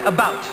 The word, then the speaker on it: about: French not American and I pronounce it about not a boot I can proudly sole